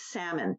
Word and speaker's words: Sammon: you tell us well my last name is salmon sounds like the fish but it's spelled s-a-m-m-o-n so you can find